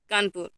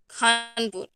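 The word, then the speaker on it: Kanpur: है, name of city, are pronounced as पिन एंड कानपुर, नॉट एज फिन एंड खानपुर respectively. हमारे India में जो पिन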